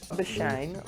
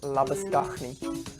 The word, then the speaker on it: Labuschagne: Labuschange like champagne. I pronounce this Labuschange.